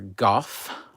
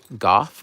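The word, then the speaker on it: Gough: i can't help it it's always going to be michael gal like always i can't or goff goth perhaps is the way i've heard people pronounce his name both ways but i can't i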